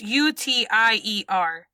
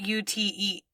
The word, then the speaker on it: UTIER: Post Irma, UTIER, it's UTIER, not UTE. I said it wrong. The acronym is UTIER.